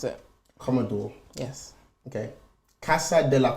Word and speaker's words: Commodore: your last name how do you think you pronounce it Commodore yes Okay Casa de la comodo yes the